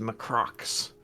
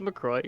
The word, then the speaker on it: LaCroix: believe it's pronounced Macrox. McCrox? But Is it yeah. McCrox? It's McCroy. You're all right.